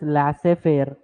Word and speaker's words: laissez-faire: Okay, and we'll call it as laissez-faire. Z is silent over there.